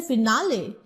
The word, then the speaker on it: finale: But when you say finale, then you see you are automatically not stressing on the first syllable.